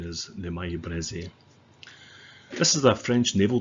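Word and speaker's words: Maillé-Brézé: But I do believe that the correct pronunciation is the Maille Breze.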